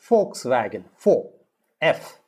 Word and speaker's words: Volkswagen: g e n now v in german is usually pronounced as f they don't pronounce v volkswagen they pronounce it as volkswagen for f if you know german